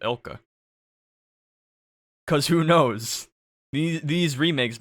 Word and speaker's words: ILCA: I mean, this is the first one developed by Ilka, or ILCA. Y'all better pronounce it Ilka.